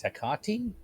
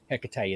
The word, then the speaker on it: Hecate: As for the note of how to pronounce Hecate, it's got a few pronunciations. My preferred option is Hecate, but Hecate is very valid too.